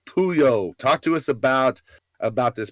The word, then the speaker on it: Puyol: Pronounced Pooh-Yole.